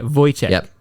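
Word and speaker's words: Wojciech: shz 100% Che vo Che sounds like a b yeah voy Che boy Che ches yeah it's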